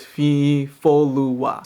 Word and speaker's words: Fifolua: But in my name, the O is pronounced oh and the U is pronounced oo. They're very short and abrupt, so it's Fifolua.